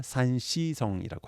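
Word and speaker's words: 山西: 서쪽에 있는 게 산서성 해서 중국식 발음은 산시성이라고 합니다.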